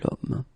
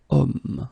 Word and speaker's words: homme: Okay, and it's not a vowel at all, but then in French we don't pronounce it.